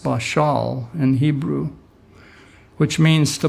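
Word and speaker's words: בָּשַׁל: e is Strong's 1310 is BA SH al pronounced bishal in Hebrew which means to boil or to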